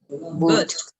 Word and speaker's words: boot: Did you notice that we have the same spelling with double O? Yes. But guess what? The pronunciation is different. It's going to be long. You're going to take your hand and you are going to say a big ooh, boot. Repeat with me.